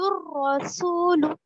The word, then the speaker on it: الرسول: پر الف اور لام کو بالکل نہیں پڑھے بلکہ اس کے بعد والا جو حرف ہے الف اور لام کے بعد والا حرف رو، اس سے ہم لام کو ملا کر پڑھے. یقول الرسول، ہجے کریں گے تب